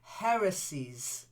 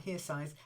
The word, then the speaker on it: heresies: if you like um then heresies not hears eyes heresies heresies yes okay and urged urged